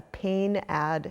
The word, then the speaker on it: PAINAD: medicine, is the use of something called a pain-ad scale. And that's spelled PAINAD, and it's really useful in dementia